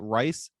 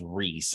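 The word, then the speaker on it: Rhys: up we have uh rice Ethan's I know I'm not pronouncing that right as uh Bob Cratchit well I think his first name is Reese I think that's how you say that Reese Reese evens yeah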